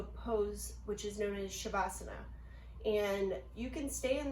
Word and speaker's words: Savasana: So Savasana, known as corpse pose, it's pronounced Savasana.